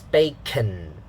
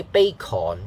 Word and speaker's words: bacon: ipa tells you uh in the second syllable uh the vowel sound is the uh sound again okay the first part of the word ah here uh so it's bacon c-o-n can not corn